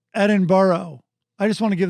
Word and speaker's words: Edinburgh: edinburgh i believe uh i think it's called edinburgh edinburgh i just want to give them more corrections edinburgh sorry uh called millennial i think it was